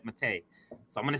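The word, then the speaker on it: Maté: I know I always say Mate, but when he was on the show, he said Mate.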